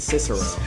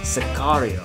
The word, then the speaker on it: Sicario: to do sario sario sario because I've been pronouncing it Cicero I have like an idiot for weeks it's